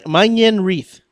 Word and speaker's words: Manyang Reath: your name um can you can you uh pronounce it for us yeah man manen reath yeah okay okay so I was right I